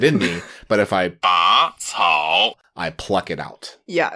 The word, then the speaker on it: 拔草: It's not 拔草, it's 拔草, the second tone.